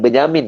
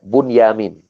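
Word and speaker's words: Bunyamin: gitu atau boenjamin bukan Benjamin ya Kok beda bebasnya bisa dia tidak menjamin hidup menyesuaikan ini boenjamin bacanya boenjamin Ya bukan Benyamin Mulyani maka ketika mereka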